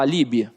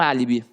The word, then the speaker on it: álibi: Não, você fala eu tenho um álibi, não é verdade? E quando você fala que você tem um álibi, você tem ali, ó, a antepenúltima sílaba forte.